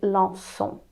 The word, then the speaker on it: lançons: So here we're putting that CCD in order to pronounce it lançons.